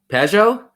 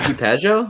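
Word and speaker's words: Pageau: His name spells Gene, but it's pronounced differently. No? He's a center? Janae? He wears 44. His last name begins with P? P? No. Pajot? Yeah. JT Pajot?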